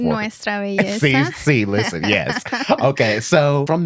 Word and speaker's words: Nuestra Belleza: Noesha Besa, I know I said it wrong. Tennessee in 2018 and California in 2019. Can you say it correctly for me? Nuestra belleza.